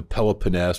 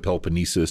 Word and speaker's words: Peloponnese: And then you have a thing called the Peloponnese, or the Peloponnesus, depending on how you want to pronounce it, which is almost an